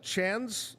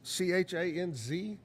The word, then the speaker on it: Chanz: Here's, I think it's pronounced Chanz, C-H-A-N-Z.